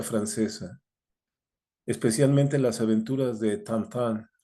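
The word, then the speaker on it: Tintin: especialmente las aventuras de tantan que se escribe tinín no un chico que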